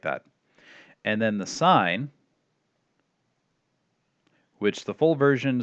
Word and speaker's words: sin: like it looks like sin but we still pronounced a sine of opposite over hypotenuse and then tangent tangent